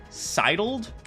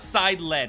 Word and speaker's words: sidled: Sidled? Sidled? Sidled. Sidled. Sidled. No, it's not side-led, it's sidled.